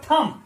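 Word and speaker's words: thumb: फिर आगे चलेंगे, देखिए टी एच यू एम बी, इसका प्रोनाउंसिएशन होगा थम, थम, टी एच यू एम बी, थम्ब नहीं होगा।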